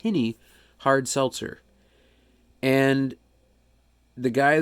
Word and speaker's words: Hinny: this channel I reviewed uh hin it's not pronounced hiney it's pronounced hiny hard Seltzer and the guy that owns the